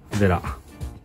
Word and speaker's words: Wera: Ça se prononce « vella ». Je pense que les pilotes les plus connus sont PB et Vera.